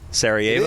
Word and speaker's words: Sarajevo: that how you pronounce it? Sarajevo.